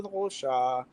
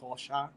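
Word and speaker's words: Rochas: Listen, I've only ever pronounced it American. It took me until now to know what we're talking about. That Rocha. One is really good. Yes. It's like I've reminded myself it's like Degas, like the painter Rocha.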